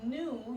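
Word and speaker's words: gnu: And then for number 2, new, you notice that the G was not even evident, and they have the long O sound. You'd recognize that that is a silent letter.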